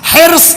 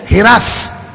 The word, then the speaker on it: حرص: حرص, حیر صاد. آپ کی سسرال لکھنؤ کی آپ کو پتا ہوگا. حرص یہ ہے اصل تلفظ. لکھنؤ چلے جائیے ہرس. ہم لوگوں کے دیہاتوں میں چلے جائیے اسی زبر کو زیر لگ جاتا ہے.